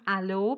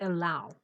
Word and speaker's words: allow: take part in yes the word is written like as if it should be pronounced alo but it's not it should be pronounced allow okay and sharing include